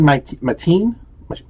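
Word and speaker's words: Maitan: Kevin Mateen, right? That's how you say it. Kevin Mation, Mateen, whatever you say his name is.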